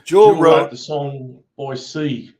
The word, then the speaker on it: Boise: the song Boise, not Boise.